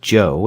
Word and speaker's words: Cho: Joe is amazingly cooperative Joe spell it Cho if you want to be exotic it still pronounced Joe and that's his name